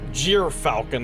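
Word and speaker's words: gyrfalcon: Anyways, four falconites commander starlac matlov unit status unit status elite nickname white vision insignia swooping arctic gear falcon or jer falcon as I have learned today trailing a white ring around a shadowed blue world.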